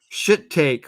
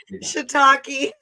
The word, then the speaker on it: shiitake: There's shit take wedge salad with cannabis blue cheese dressing. Say that again. What is that? Shit take. How do you pronounce it? Shiitake.